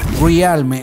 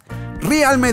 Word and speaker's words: realme: realmente o realme bueno a muchos de ustedes no les gusta como que lo diga como se debería pronunciar en español que es realmente pero bueno aquí hay democracia no somos dictadores así que pronunciaremos realme además como que me copa